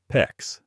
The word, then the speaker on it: PEX: One of the things SharkBite does really well is their fittings are rated to work on copper, CPVC, CPVC, and PEX, PEX rhymes with flex.